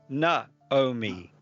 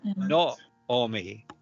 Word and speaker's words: Naomi: And the reason we have Naomi is because of a mispronunciation, even by most Jews today, and they say Naomi, but it should be Naomi, Naomi. Naomi.